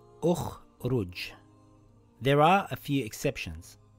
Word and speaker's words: ٱخْرُجْ: The third letter has a dhamma. So we place a dhamma on Hamzatul Wasl. This reads Un-Dhur. And this reads Ukhruj.